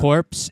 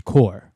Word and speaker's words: corps: corpse, it's core.